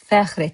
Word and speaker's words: fəxr: In Master Azerbaijani word of today, you have FƏXR ETMƏK. FəXR is just one syllable.